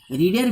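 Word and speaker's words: read: Number 6-এ বসে ভি3, রিডের ভি3, রিডের ভি3 রেড, রিড রেড রেড, স্পেলিংটা same থাকে, 3টের স্পেলিংই আর ইএডি, কিন্তু উচ্চারণটা চেঞ্জ হয়ে যায়। প্রেজেন্টে হচ্ছে রিড, পাস্ট হচ্ছে রেড, পাস্ট পার্টিসিপেলও রেড, মানে ভি3 রেড লিখে দিলাম।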